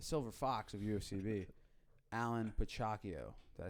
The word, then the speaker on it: Piciacchio: ufcb Instagram The Silver Fox of ufcb Allan pako did I say it right awesome perfect I've been saying your last name wrong for like almost two years now and